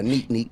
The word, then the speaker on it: Zonique: Zonique? Yeah, neek.